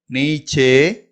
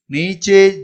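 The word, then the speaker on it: नीचे: Next ஒன்று பாருங்க, இது நீ. நீ நெடில்ல உச்சரிக்கணும். சே, நீ சே. ஜா ஓ, ஜாओ, நீச்சே ஜாओ, நீச்சே ஜாओ அப்படின்னு சொன்னா இங்கிலீஷ்ல கோ டவுன், கோ டவுன் அப்படின்னு அர்த்தம்.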